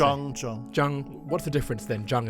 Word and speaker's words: Chang: This is about the alphabetical system for the pronunciation of Chinese characters. In the 19th century, a British diplomat and sinologist called Thomas Wade, he actually created a universal alphabetical system for Europeans to pronounce Chinese characters. So that's called the Weijiao system, and my name is spelled in the Weijiao manner.